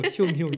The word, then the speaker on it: 흉흉: 흉흉이 아니고 흉흉. 저도 저 발음이 안 됩니다. 너무 어려운 발음. 흉년할 때 흉. 예. 그리고 똑같이 흉.